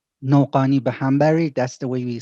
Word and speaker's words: Noghanibehambari: is with a very weird last name no pani ba hambury that's the way we spell it nopani by but my name is